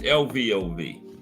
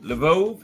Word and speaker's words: Lvov: Because the Russian names have a lot of unpronounced letters. I mean, letters that's not even in it that you spoke. Like it should be L-I-V-O-V, Lvov. You know, that's what I think it is.